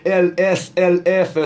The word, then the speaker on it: LSLF: Alors on a eu droit à Paralysis Lyrical de LSLF, ça se prononce bien comme ça, L.S.L.F.